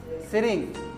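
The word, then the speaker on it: Tsering: हाँ, हम लोग का दोस्त का नाम भी ऐसा ही था, सिरिंग। टी से आता है उसका स्पेलिंग, छोगेल। टी से सो उच्चारण ही ऐसा है।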